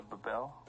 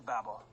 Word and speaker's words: Babel: Babel I'll spell that don't you mean the Babel no it's babble they even crafted a